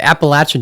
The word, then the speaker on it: Appalachian: right that time very good sweet all right Appalachian Trail why uproot your life to go do